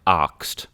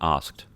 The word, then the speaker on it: asked: it for cheap any pronounces it like axed rather than asked so like the syllables although they're the same amount of syllables it takes longer to say so it basically adds one but that that song